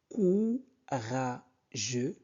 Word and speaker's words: courageux: Courageux. O-U se prononce ou. Courageux. E-U se prononce E. Courageux.